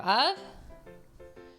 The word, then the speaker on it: を: So while it's spelled O, it's actually pronounced O. You don't usually say whoa, whoa, whoa, whoa, whoa, whoa. Yeah, you don't do that. The W is kind of silent.